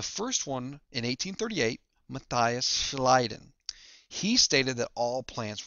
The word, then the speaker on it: Schleiden: I always remember this as schleiden, you slid or you slide on the grass.